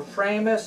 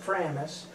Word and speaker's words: Framus: is a 1970 uh framis or framus i pronounce it framis made in germany uh